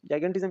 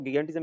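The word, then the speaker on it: gigantism: जाइगेंटिज्म या फिर कुछ लोग इसको गिगेंटिज्म भी कहते हैं, आपके प्रोनाउंसिएशन पे डिपेंड करता है, आप जैसे भी कहो, ठीक है।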